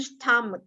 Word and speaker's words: stomach: Hips bukan hip karena ini cuma satu i jadi bacanya hips, and stomach. Bacanya ini stomach. Stomach. Pakai ke ya, bukan ceh ya, tapi stomach. Stomach.